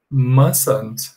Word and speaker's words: mustn't: So we say mustn't. Olha só, mustn't. É como se eu não pronunciasse o T, tá bom?